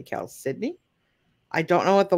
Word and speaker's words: chalcedony: right yeah okay so this is Cal Sydney sometimes pronounced chalcedony or chalcedoni it's actually Cal Sydney I don't know what